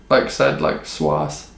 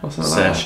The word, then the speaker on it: Saoirse: Okay, well, I was going to ask that, because I thought it was like Swass. No, Saoirse.